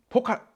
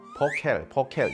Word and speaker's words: Focal: 자, 첫 번째로 포칼 스피커입니다. 포켈. 프랑스 마케터를 만났더니 발음이 포칼이 아니에요. 그 사람들은 포켈 이렇게 얘기하더라고요. 그게 맞나 봐요.